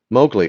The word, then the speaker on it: Mowgli: Mo like cutting the lawn, glee like a glee club. Mowgli.